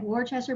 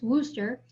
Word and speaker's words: Worcester: the missionary refuses so i know it looks like worchester but we pronounce this wooster so in worcester versus